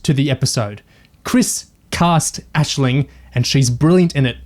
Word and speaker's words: Aisling: anetta joined the show how do you pronounce the actress's name for sarah ashling b it's like an irish name i agree with it it's ashling yeah okay ashley when annetta